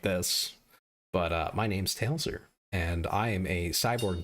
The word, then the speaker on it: Tailser: Some people mix the S and the L, they flip them, and it's Taisler, which is less severe.